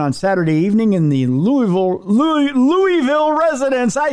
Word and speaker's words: Louisville: It's Louisville. Someday I'm going to put together a huge reel of news people pronouncing it correctly.